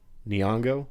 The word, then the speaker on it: Nyong'o: I always have the hardest time pronouncing her name. Lupita Nyong'o.